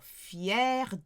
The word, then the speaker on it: fière: Proud of is fier de or fière de. The feminine sounds the same, but it's got that extra E at the end and the grave accent on the first E.